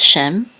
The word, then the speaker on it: Shem: with it said animam so feet which says Shem so Shem is the name of one of his sons it also means name but we know that this is the name of one of his sons Shem it and this is a this is a